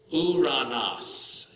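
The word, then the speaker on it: Οὐρανός: Then the last one, the omicron upsilon, soup, Uranos. See the word Greek there? Uranos, which means heaven. Uranos. Ooh.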